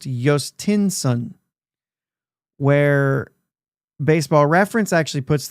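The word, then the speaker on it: Jhostynxon: So we have OG says it's pronounced Jostinsson, where Baseball Reference actually puts the reference on the Joes and keeps it a J, but it's Jostinson is how they're saying it.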